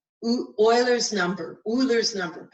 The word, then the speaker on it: Euler: That number is called Eulers number. Eulers number. I think it's pronounced Euler.